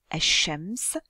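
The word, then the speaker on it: الشمس: l'â de l'article défini donc je ne prononce pas le lâ de l'article en revanche je vais appuyer sur l'initial du mot asams et c'est pour ça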